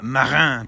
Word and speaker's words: Marin: Also never before seen on camera, the 1991 Team Marin twins. Everybody knows that's how you pronounce it.